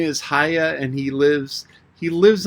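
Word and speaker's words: Haigha: happy his name is haya he pronounced it so as to rhyme with mare i love it with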